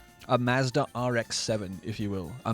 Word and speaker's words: Mazda: We say Mazda. A Mazda RX-7, if you will.